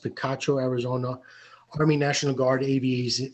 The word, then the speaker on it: Picacho: 2017 and 2018 at the picacho that's what i believe is pronounced picacho arizona army national guard